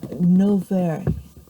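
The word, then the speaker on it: Novaire: of Christ, there lived an old man called Nov. Nov. It's spelled N O V A I R E.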